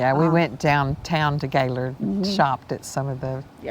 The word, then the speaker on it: Gaylord: I know before we came, it's spelled Gaylord, so we yes. were saying Gaylord. Yep. And we got here and found out it's Gaylord, Yes.